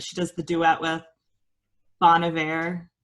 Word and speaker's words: Bon Iver: Bon Iver. Bon Iver.